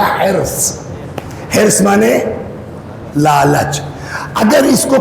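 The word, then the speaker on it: حرص: हमारे देहातों में कहते हैं हिरिस। बिहार में भी बोलते हैं हिरिस। लखनऊ में कहते हैं हिरस। जी हां। और सही तलफुज़ है इसका हस।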